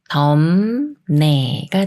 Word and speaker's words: 덥네: 하나만 읽는다면 더에 읍 소리를 붙여서 더 더 더이라고 읽겠지만 더 다음에 초석 니은이 오면서 미음 받침 소리인 음으로 바뀌어서 덤 네가 돼요 덤네 덤네 예문 읽어 볼게요음 날이 덥네